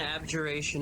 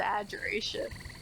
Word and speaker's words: abjuration: This is what an abjuration is. Aberration. Same thing. No, we're gonna keep calling it abjurations. It's an adjuration. It's not ad, it's ab.